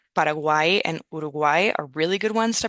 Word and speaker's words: Uruguay: with Spanish pronunciation and uruguay are really good ones to practicement uruguay especially uruguay because we have that u that's tricky especially if you come from English where you want to say you instead of oo